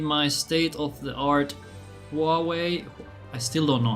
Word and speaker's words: Huawei: state of the art Huawei. I still don't know how to pronounce that. Huawei. Huawei. Huawei. One phone. That's what we're going to call it. Ho ho. Really? The U is silent. Wu way.